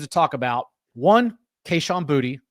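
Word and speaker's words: Boutte: talk about one kaan booty and that's how he pronounces it I had to look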